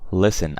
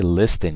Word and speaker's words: listen: have listen and listen actually has a missing T okay so listen I don't say listing you guys these are all silent by the way so listen okay literature